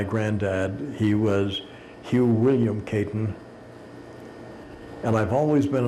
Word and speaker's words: Caton: He was Hugh William Caton. And I've always been a little bit curious. Caton is spelled C-A-T-O-N. If you pronounce the word in Lakota, it comes out Shatan, which is the word for hawk.